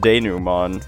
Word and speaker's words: denouement: Uh okay, so it turns out that this word comes from French, which has some interesting pronunciations, to say the least.